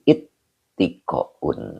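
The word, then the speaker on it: اتقاء: Nah ini bacanya ifta'ala yafta'ilu ifti'alun. Nah ini berarti ittiko'un. Nah begitu. Jadi ngambil pola dari ifta'ala yafta'ilu ifti'alun. Maka dibaca ittiko'u.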